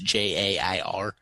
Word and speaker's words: Jair: It's Jair.